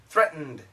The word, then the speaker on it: threatened: Threatened. He frightened me. He frightened me. He threatened you. He threatened you. Okay? These are pretty tough. Once again, this pronunciation style is called the glottal stop.